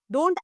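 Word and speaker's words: debt: Next okay very very good word it इज़ डेथ। द B silent. डेट।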